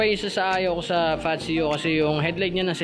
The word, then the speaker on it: Fazzio: Yan yung tamang pronunciation, mali yung sinabi ko nung una na Patsyo, no, mali pala yun, no? So Patsyo, ito yung spelling, no? Tsaka pagkakapronounce, Patsyo.